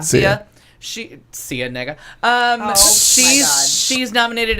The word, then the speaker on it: Sia: Sia.